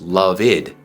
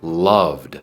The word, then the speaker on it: loved: mí Love muy bien en pasado decimos loved loved no decimos loveed sino loved por ejemplo él la